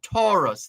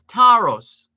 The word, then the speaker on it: Tarrus: I was just using the opportunity for all those who tend to say Taurus. They're stushing it up and saying Taurus. That's not how his name is pronounced. It's Taros, not Taurus.